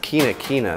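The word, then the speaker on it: Quinquina: That is pronounced quina quina.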